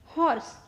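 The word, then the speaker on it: horse: Next हॉर्स, ह। हॉर्स में पहला जो यच है उसका साउंड आएगा ह, तो वो कॉन्सोनेंट हो गया, तो हम लिखेंगे ए।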